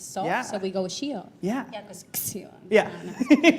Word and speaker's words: Xio: Well, it can be Zio or Shio. Yeah, oh, It Shio. depends. Yeah, we say Shio.